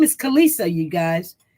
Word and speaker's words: Khaleesi: Okay, her name is Kalisa, you guys. It's spelled Khaleesi.